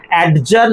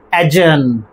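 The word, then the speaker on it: adjourn: ওকে, 3 নম্বর ডি বাদ গেলেও 2টো syllable এখানে পড়ে রইল। আমাদের প্রোনাউন্সিয়েশনটা কি হবে? অ্যাডজার্ন নয়, অ্যাডজার্ন, অ্যাডজার্ন।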